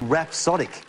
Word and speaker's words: rhapsodic: the word too, because the first syllable sounds like a style of music, rap, and the last five letters you can mix up into another style of music, disco.